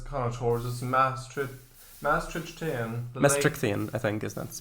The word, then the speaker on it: Maastrichtian: Maastrichtian, I think, is that's pronounced. Maastrichtian. There's no TH.